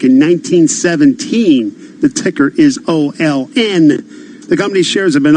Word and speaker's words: Olin: but talking about Olin is an Olin corpus that how it's pronounced that's right Jason it's a familiar name